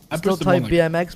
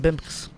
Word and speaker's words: BMX: it's not a blast are you say bimx for irl to pronounce bmx bmx but you just call it bimx three four days ago